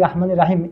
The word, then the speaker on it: রহমানির রাহিম: এটার শুদ্ধ উচ্চারণ হচ্ছে রহমানির রাহিম। কেন? এর কারণ হচ্ছে আরবিতে যে র বর্ণটি আছে র। এই র বর্ণটির উপরে যদি জবর থাকে কখনো কখনো এই জবরটি র উচ্চারিত হয়।